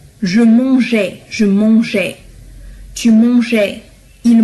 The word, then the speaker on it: mangeais: بالنسبة لهذا الأ هو فقط كي ألفظ الجي ألفظ الجي pardon ألفظ la lettre G je mangeais, je mangeais, tu mangeais, il mangeait. لأن G مع A تلفظ G.